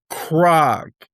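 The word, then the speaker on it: Kharg: Iran has an island in the Persian Gulf called Krag, K-H-A-R-G, spelled like a Klingon starship.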